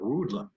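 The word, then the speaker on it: Rüdlin: Riedlin in Germany, actually his name was spelled with an R and then U with an umlaut, D-L-I-N. So the German spelling of Riedlin, and it was probably pronounced more like Rudlin rather than Riedlin.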